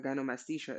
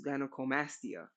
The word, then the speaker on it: gynecomastia: Uh, and I just learned it's not gymastia, it's gynecomastia. Cool. They put another syllable in there.